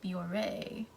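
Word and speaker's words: Bioré: however you pronounce biore bjor i don't need bjor no it has the thing over the e so biore i think it worked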